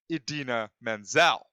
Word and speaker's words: Idina Menzel: But the one thing that he did get wrong was he said the name wrong. It was indeed Idina Menzel.